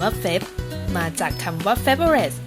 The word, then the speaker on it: fAVE: รัชดา และ ลาดพร้าว โดย ชื่อ ร้าน เฟบ อ่าน ว่า เฟฟ มา จาก คำ ว่า